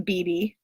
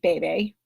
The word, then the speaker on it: bebe: all it's from and I know everyone pronounces this differently it's from Beebe or if you like to say BAE BAE I don't know I called bebe I again cannot tell